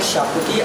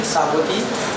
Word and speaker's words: Sabuti: Again, I'm not saying Shabuti, I'm saying Sabuti, because that's how the Hindu community in Goa pronounce it.